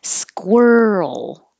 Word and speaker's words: squirrel: the past but squirrel it is weird squirt you have to round your lips even as you begin with the SK squir and as your tongue comes back for the r squirrel squirrel the Earl noise